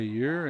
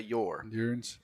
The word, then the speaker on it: Ure: So it should be spelled with a southern emphasis, Y-O-U-R. That's right. Because that's how we say Ure. We don't say Yor.